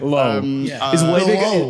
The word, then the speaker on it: Loewe: I thought you were trying to catch me on the pronunciation. I was. Low.